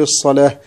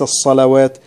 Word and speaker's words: الصلاة: يبقى عند الوقف نقف على الألف، نقول الربا وليس الربا، ومثلها كلمة الصلاة ترسم الألف الصغيرة فوق الواو، نقول الصلاة وليس الصلوات، وكلمة الزكاة هكذا، نقول الزكاة وليس الزكوات.